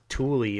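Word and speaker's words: Thule: the Air Force Base Tuli that's how it's pronounced in Greenland um which could be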